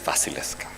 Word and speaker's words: Wasilewska: Her name is Wasilewska. But if you pronounce it the Polish way, the L is not an L.